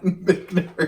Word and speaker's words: Michter's: It's that proper pronunciation. Michter's.